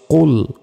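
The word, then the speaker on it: قُلْ: এখানে কফ লাম পেশ কুল কুল মোটাভাবে উচ্চারণ হবে।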